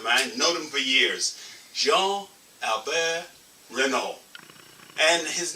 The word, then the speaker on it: Jean-Albert Renaud: And but in English, my name is pronounced Jean-Albert RENAUD. In French, is Jean-Albert RENAUD.